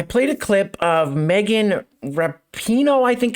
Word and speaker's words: Rapinoe: All right, so in the video that I did on Friday, I played a clip of Megan Rapinoe, I think it's how her last name's pronounced, Megan Rapinoe, who is a U.S.